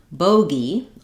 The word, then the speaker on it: bogey: dip thong K kg but in bogy or also fogy this is less common but we have this letter G saying the G sound um like in girl and so um we